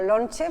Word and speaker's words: lonche: Lonche, pues de leo lonche, lonche. Porque realmente lo pronuncian así.